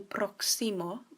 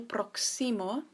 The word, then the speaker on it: próximo: To say when's the next flight, this would be ¿Cuándo el próximo vuelo? So here we have ¿cuándo?, which is when. El próximo. So remember to stress the O because it has an accent.